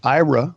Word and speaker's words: Aira: technology and what went into its development absolutely IRA which is spelled a IRA is a pair of smart